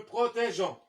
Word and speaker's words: protégeons: Nous protégeons. On ajoute un E entre G et O pour ne pas prononcer gant.